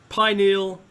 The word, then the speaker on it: pineal: Pineal, pineal.